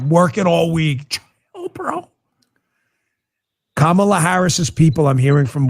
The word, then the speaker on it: Kamala: the hate campaign against kamla Harris has done you'll notice they purposefully pronounce her name wrong they say Kamala they do it all the time it is on purpose but the talk is